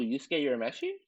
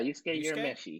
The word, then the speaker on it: Yusuke Urameshi: Basically open up with your pronounce his name for me, because I'm gonna who? Yusuke Urameshi? Yeah, Yusuke Urameshi.